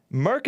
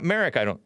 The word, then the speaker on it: Merck: Merck and Company. It's not Merrick, unless it's pronounced Merrick.